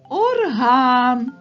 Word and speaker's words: орган: є наголошеним орган А як тільки ми поставимо наголос на звук а то в нас вийде орган музичний інструмент орган орган ось